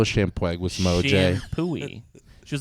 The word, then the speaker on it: Champoeg: My wife was like, that's not how that's pronounced. Shampooey Park.